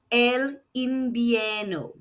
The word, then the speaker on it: invierno: The V is making a B sound again. And the second I is making an E sound. Elimino.